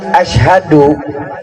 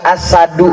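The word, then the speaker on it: أشهد: masyarakat landak nih apa kalimat Asyhadu dengan Ashadu itu pejabat kalau Asyhadu saya bersaksi tapi kalau Ashadu singa namanya ini loh baiknya Va bahasa Arab itu salah pengucapan bisa mengakibatkan salah pengertian babibu berkah perjalanan kami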